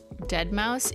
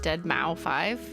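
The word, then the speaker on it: deadmau5: Dead Mouse. Yeah. Did I just pronounce it dead Mau 5?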